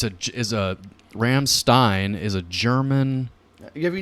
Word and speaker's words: Rammstein: Is it Stein or Steen? Steinstein, I don't know. I'm an American. Well, if you're going to get behind them, you got to know how to say their name. Rammstein. There you go. Rammstein. Every time you say it, you have to say it. Rammstein.